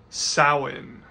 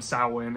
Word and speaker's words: Samhain: And finally we have Samhain, or also I guess you could call it Samhain. I do both. I actually named my new kitty, he's a small black cat. I named him Samhain, and I call him Samhain, Sam, Sammy, whatever